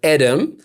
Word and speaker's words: Edem: Edem, yeah. Okay. I guess it reads as Edem, but it's pronounced Edem, yeah.